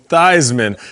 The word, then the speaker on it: Theismann: ask you about so you walked into notre dame as joe thiesman and walked out as joe theismann so can you please give